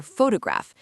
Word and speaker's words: photograph: Or photograph. The stress is on the first syllable. Photograph. that second O reduces to a schwah fo.